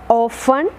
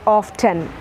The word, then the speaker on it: often: You can pronounce it as often or you can pronounce it as often. Both are accepted pronunciation. One is that of American and one is that of British.